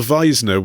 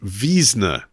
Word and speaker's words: Wiesner: Bertold Wiesner was the progenitor, as we said it in the show, but David has been in touch to say it's pronounced Wiesner.